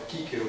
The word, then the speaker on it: Cícero: A tópica atrepástio de Cícero. É Cícero? Ou é outro? Cícero. É o próprio, é o Cícero. É o Kíquero, como diz O o Kíquero, né? Como diz a pronúncia restaurada.